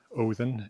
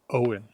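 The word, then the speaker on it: Óðin: But whereas that's pronounced Odin in Icelandic or something very like that in Old Norse, in Faroese that's Owen.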